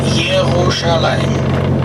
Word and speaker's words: Yerushalayim: Yerushalayim. Yerushalayim. Remember J goes to Y.